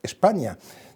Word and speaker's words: España: sino del término España, con S líquida, pero que ellos pronunciaban España, de tal manera que se está hablando de España desde el siglo VI o VII, por lo menos, ¿no?